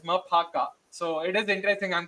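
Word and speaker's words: Maphaka: thing I've learned is the pronunciation of qu mafaka who we all called it as mafaka turns out it is maaka so it is interesting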